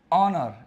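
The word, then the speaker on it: honour: चलो अगली चीज़ सुनो यहां पर जब एच साइलेंट हो जाता है साइलेंट होने पर अन बोलता है या अन लगता है साइलेंट हो जाएगा तो सर साइलेंट कैसे देखो जैसे ऑनर इसको क्या बोलते हैं ऑनर क्या बोलते हैं इसको ऑनर ऑनर बोलते हैं तो देखो है तो बोलेगा नहीं ऑनर नहीं बोलते इसको ऑनर बोलते हैं ऑनर तो क्या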